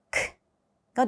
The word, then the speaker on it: к: 이것도 여러분 저희가 알파벳의 명칭은 까이기 때문에 무성음이 아닌가요라고 이제 질문을 하실 수 있지만이 발음 그대로 소리를 내자면은 크가 됩니다. 크. 한글의 키 발음과 거의 비슷하죠.